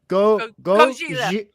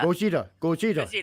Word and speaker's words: Gojira: And how do you say Godzilla? Gojira. You got it perfectly right there. Gojira.